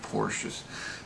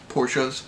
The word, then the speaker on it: Porsche: And yes, I am a fan of Porsches. I always call it Porsche, but you're supposed to pronounce it Porsche.